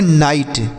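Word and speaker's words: knight: एन एक साथ है तो के का उच्चारण नहीं करेंगे तो इसे हम पढ़ेंगे नाइट के एन आई जी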